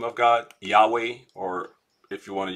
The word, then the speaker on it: Yahweh: j that's the problem there's no j in uh in hebrew no json that was that that comes because of translations uh early on um most people pronounce it um uh yahweh some like other pronunciation but that's probably what it is um anyway they